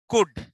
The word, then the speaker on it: could: Could. L is silent.